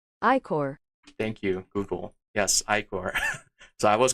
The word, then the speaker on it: ichor: Pronounce. Ichor. Thank you, Google. Yes, Ichor.